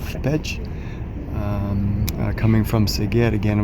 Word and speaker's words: Pécs: This city, for example, is spelt P-E-C-S, which us English people would just say Pecs. But apparently it is called Pécs. I think it's more like a, not page, it's more like a Pécs.